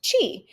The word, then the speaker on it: qi: So QI is pronounced chi.